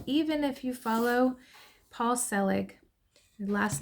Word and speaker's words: Selig: called and even even if you follow Paul selig the last name is spelled s e l i g if you